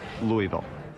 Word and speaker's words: Louisville: him losing his head we still call it Louisville central to Kentucky's character is its ongoing struggle